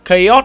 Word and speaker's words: Chaos: Và có tên là Chaos nha mọi người. Nên tiếng Việt thì các bạn hay đọc là Chao đúng không? Nhưng mà hình như tiếng Anh đọc là Chaos đấy.